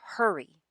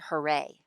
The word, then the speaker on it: hurry: lesson the hidden train many of my students in the past have struggled with the word hurry they often pronounce it hooray so when i taught